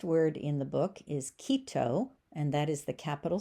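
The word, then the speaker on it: Quito: The next word in the book is Kito and that is the capital city of Ecuador. Again the ui sound is just like a long long e.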